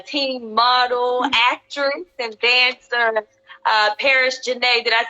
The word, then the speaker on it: Paris Janae: Well, I was just getting the world acquainted with you, teen model, actress, and dancer, Paris Janae.